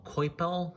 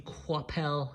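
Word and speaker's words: Coipel: of people call him coel because it's spelled c o i p but I believe it's French and the French pronunciation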